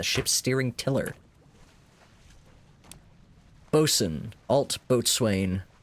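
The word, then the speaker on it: boatswain: Bosen Altbo boat swain. I think they still pronounce that Bosen though.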